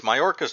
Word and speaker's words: Mayorkas: I got his name wrong once before. Let me double check. It's Mayorkas though for sure.